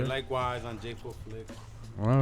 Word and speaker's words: Jei4Flix: Jei4Flix. Everywhere. Spell it, 'cause JEI, the number 4, Flix, FLIX.